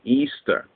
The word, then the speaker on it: Ishtar: the Golden Fleece anyway the mother goddess ishar originally pronounced Easter so it tells you